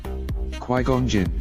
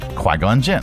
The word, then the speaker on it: Qui-Gon Jinn: Qui-Gon Jinn. Qui-Gon Jinn.